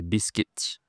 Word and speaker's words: biscuit: Je fais des biscuits. Attention ici la prononciation. En anglais c'est biscuit, en français c'est biscuit. Difficile hein ? Biscuit. Ici c'est une semivoyelle.